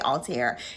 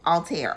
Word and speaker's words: Althair: okay we're gonna say Altair me and Sheree and I were trying to pronounce it uh but there's like a French accent on the end y'all but all all tear okay um anyway the